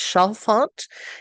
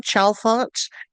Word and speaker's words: Chalfant: And the actress who is in it, Kathleen I think it's Chalfant is how you say her name, Chalfant, is up for Best Actress.